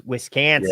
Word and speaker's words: Wisconsin: Wisconsin Badger football. Okay, now that's another one I got to correct your pronunciation. It's Wisconsin.